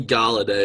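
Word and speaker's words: Golladay: Kenny Galladay. Is that how you pronounce it?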